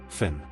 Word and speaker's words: Finn: Number seven, Finn. Pronounced f y u n, sometimes f i n in English settings.